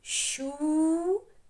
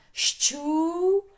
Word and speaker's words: щука: Не поїла маленьких будиночок щука щука чітко вимовляємо подвійний звук так щоб було голосно звучали щука є два склада у а у а теж подвійне вірно робимо ш ч подвійний дужечкою об'єднали далі йде